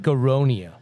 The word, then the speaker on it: aronia: So things like Your black aronia. You have that in here. Did I say it right? Aronia? yes.